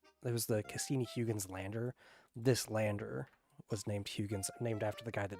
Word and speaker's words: Huygens: Yeah, Huygens. Huygens? It is Hoy.